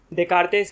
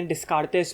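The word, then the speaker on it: Descartes: अब आज रेने डेकार्तेस के ऊपर बात है। रेने डेकार्त, रेने डिस्कार्तेस बोलते हैं बहुत लोग इंडिया में, लेकिन असली फ्रेंच प्रोनाउंसिएशन है रेने डेकार्त।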